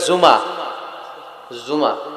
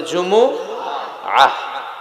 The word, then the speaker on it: জুমুআ: জুমুআ অনেকে বলে ফেলে জুমা জুমা আসলে আরবিতে শুদ্ধ উচ্চারণটা হচ্ছে জুমু আহ সূরাতুল জুমু আহ এই